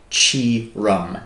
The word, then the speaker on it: Tioram: So it's spelled Tioram, but Tioram is basically the way to pronounce it.